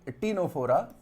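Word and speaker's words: Ctenophora: तो नाइडेरिया के बाद ये टीनोफोरा, इसमें सी साइलेंट है।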